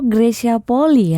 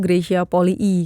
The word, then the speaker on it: Greysia Polii: Nah, nama Gracia Poli itu sebenarnya dibacanya Grescia Poli I atau Gracia Poli? Ya, seharusnya dibacanya tuh Grescia Poli I karena double I.